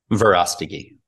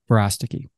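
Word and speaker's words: Verástegui: Verostigi. Verostigi.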